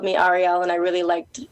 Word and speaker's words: Ahriel: is very similar to my name um it's Arielle instead of Ariel I only did a slight